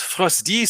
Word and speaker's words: PHRAWZTY: Ici, je suis PHRAWZTY, ça se prononce Frosty sur toutes les choses. C'est le pseudo-hacker que j'ai depuis les années 90 et voilà, je suis Frosty sur toutes les choses, Twitter, GitHub, machin.